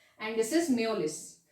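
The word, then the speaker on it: Mjolis: This is not Majolis, this is Meolis. Okay, it is pronounced as Meolis.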